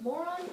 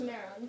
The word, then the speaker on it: Marron: Marron, is it? We were very interested in seeing what the Nicaraguan life is all about. Actually, it's pronounced Marron, but yes, I have much to tell.